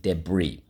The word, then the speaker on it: debris: decrepit debris debris okay and again the i and the s the i is it's french and that's why the i says e the s is not sounded debris let's go sol lee